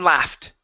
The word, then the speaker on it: laughed: the word laughed okay instead of law loft with an all it's at a short a sound la left left left gin laughed gin loved awesome nice job